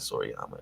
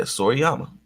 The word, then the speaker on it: Sorayama: always get it wrong it's not soriyama it is oh yeah sorayama sora sora yama yeah sometimes you have